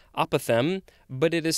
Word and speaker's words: apothem: word for this episode it looks like it's pronounced the same way as the previous word apothem but it is spelled